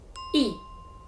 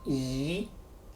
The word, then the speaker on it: 一: the third tone, as in wan, E is pronounced as yi. Yi. What about E followed by the fourth tone, as in guan? Spot on. E has changed from the first tone to the second tone, yi, as in yi guan.